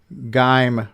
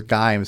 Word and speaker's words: Gimes: Sixy says, glad someone else agrees that Gime rhymes with time. So the guy's name is Gimes, Samuel Gimes, right?